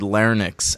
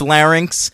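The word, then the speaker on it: larynx: time Jim Ross and he always pronounces that word Linx and I I'm like no one can tell this guy that it's laryn in like the 30 years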